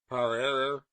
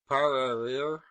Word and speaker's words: prairie: I may premise that the word prairie is variously pronounced parairer, parairer, parorer. The latter mode of pronunciation is perhaps the most in favor.